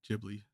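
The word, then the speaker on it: Ghibli: sky is my favorite Studio gibl Movie sorry jibli it's technically pronounced JBL like the first one that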